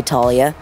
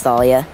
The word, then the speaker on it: Thalia: everyone pronounces it differently in the movies they say Talia and then some people say Thalia it's Thalia what's your name I'm